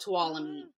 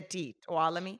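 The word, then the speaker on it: Tuolumne: time in my tiny little town it's called talami and uh so people can barely even pronounce it let alone have heard of Itami like but it's with a talami yeah so it's a Native American name and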